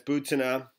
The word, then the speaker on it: Butina: butanna butanna I learned that that it's not booty no that's butanna is how you pronounce it so you know she was in